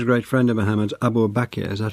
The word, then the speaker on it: Abu Bakr: And this was a great friend of Muhammad's, Abu Bakr, is that how I pronounce it? Abu Bakr.